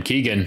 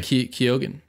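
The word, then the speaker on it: Keoghan: Keegan probably because you pronounced his last name Keegan kogen what how is it pronounced kogen kogen I'm not going to do that you can tell cuz there's an O there fair enough I just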